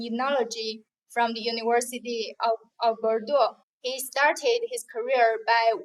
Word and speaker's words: Bordeaux: master's degree in Enology from the University of Bordeaux. He started his career by working at Denis, a very difficult pronunciation.